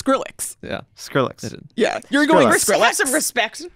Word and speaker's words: Skrillex: scrx press the button I think I pronounced it scrx that time which is fun you can say Skrillex but it's so fun to say scrx it's Skrillex yeah Skrillex yeah you're